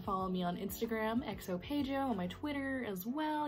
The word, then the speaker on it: Paigo: My name is Paigo, XO Paigo, Paigo, P-A-I-G-O, Paigo, it's pronounced Paigo, big O, right?